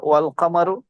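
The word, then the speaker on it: والقمر: আশ-শামসু, শিন, আলিফ, লামটা উচ্চারণ হচ্ছে না, কিন্তু ওয়াল কামারু, কমর, ওয়াল কমর। এখানে লামটা উচ্চারণ হচ্ছে।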